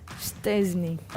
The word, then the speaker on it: Szczęsny: have given us a rating for how we pronounced our goalkeeper's name. Let me see. Szczęsny.